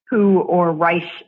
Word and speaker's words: Reich: There was a young lawyer and law professor named Charles Reich, Reich, some Americans say, who invented a new concept of property.